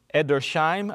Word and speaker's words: Edersheim: His name is Alfred, I'm going to say Edersheim, a little bit of German pronunciation there.